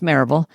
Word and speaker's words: Maryville: Yeah, I So, I've been coaching I I ran I started, grew, and ran a group practice in Maryville, Tennessee which we pronounce Maribel just outside of Knoxville